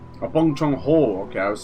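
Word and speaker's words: Bong Joon-ho: Oh, Bong Chong Ho. Okay, I was saying Bong Chong W.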